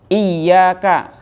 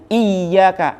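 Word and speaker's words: إياك: Iyyaka, hanya kepadamu, na'budu, saya menyembah, wa iyyaka, dan hanya kepadamu, nasta'inu, kami minta tolong. Qara'a sab'ah wal jumhur bitasydid. Kalau qiraat sabah dan jumhur ulama pembacanya iyyaka, ada tasdidnya.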